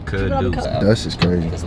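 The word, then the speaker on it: Kidus: It's spelled like dust. Mm-hmm. I could've sworn people you called you dust too. That's my full name. K-I-D-U-S. Kuduce.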